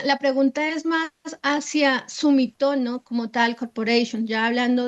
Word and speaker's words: Sumitomo: O sea, Sumitomo, Sumitomo. gracias, con M. Antes nos dicen Corporation, Sumimoto también. Sumitomo.